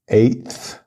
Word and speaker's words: eighth: it's f-i-f-t-h fifth fifth the next one is eight um we don't just add th to the end because there's already an A T at the end of eight so it's eighth like there's only one t it's not eight plus th it's e-i-g-h-t-h eighth eighth the next one is